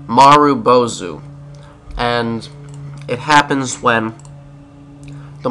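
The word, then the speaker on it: marubozu: butcher this too much it's called a maru bozu and it happens when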